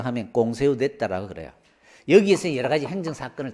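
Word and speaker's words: Conseil d'État: 데가 있어요 이게 프랑스 행정 재판소를 프랑스 씩 발음으로 하면 꽁 세우되 따라 그래요 여기에서 여러가지 행전 사건을 담당하고 있습니다 자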